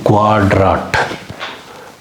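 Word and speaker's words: Quadrat: sound தான் வரும் இப்ப உதாரணத்துக்கு ஒரு உதாரணம் சொல்லுவோம் குவாட்ராட் குவாட்ராட் குவாட்ராட் குவாட்ராட்னா சதுரம் அப்படின்னு அர்த்தம் இந்த மாதிரி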